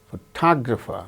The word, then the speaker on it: photographer: In the case of the word examine, second syllable gains stress.